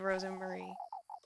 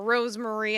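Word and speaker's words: Rosemarie: a goat's hay bed Ros Marie or Rosemary as she mispronounces up you go you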